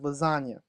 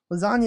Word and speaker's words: lasagna: spelling of the word lasagna lasagna is not said the way it is spelled the word is spelled with a silent G without having a good